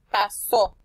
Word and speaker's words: pasó: En la palabra pasó, la sílaba so se pronuncia más fuerte y lleva tilde.